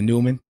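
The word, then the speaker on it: Neumann: about the standard one oh man that's how you say it the Newman know everybody yesterday everybody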